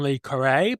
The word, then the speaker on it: Le Carré: It's a game about espionage, apparently, inspired by the works of John Le Carré, but also, that's how you pronounce it, but also including psychedelic sci-fi elements inspired by people like Le Guin.